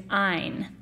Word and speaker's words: Ayn: her first name is Ayn. And the trick I give people to remember that by is that, in keeping with her philosophy, the correct pronunciation of her name rhymes with the word mine.